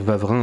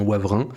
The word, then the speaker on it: Wavrin: Alors moi j'ai toujours envie de dire, vous m'entendrez peut-être dire Vavrin, mais il s'avère que ça se prononce bien Wavrin. Ça n'a pas de sens, mais bon, c'est dans le nord. Alors, c'est comme ça.